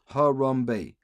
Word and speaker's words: Harambe: Is that 3 syllables? Harambe. 3 syllables, 1 word, Harambe.